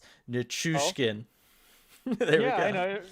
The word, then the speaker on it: Nichushkin: Thanks, Sean, for the pronunciation help. RJ, I know you'll get a kick out of this. It's Oh, Nichushkin.